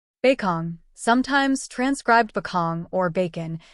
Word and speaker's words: Bakong: beong sometimes transcribed beong or bacon to be spoken with a long o in ruos is situated